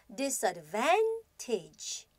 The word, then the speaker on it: disadvantage: 자, 우선 좀 길이가 길다 보니까 강세의 위치를 정확하게 확인해 주셔야 되는데요. advantage 혹은 disadvantage 하고서 V-A-N, van 부분을 강하게 읽어주시면 되겠습니다.